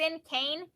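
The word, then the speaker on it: cinquain: It's a sincane. No, it's a sincane poem. That's how you say it.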